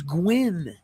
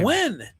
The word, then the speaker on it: Gwynn: Pronunciations. It is Gwyn. Oh, what did she say this time? Gwen.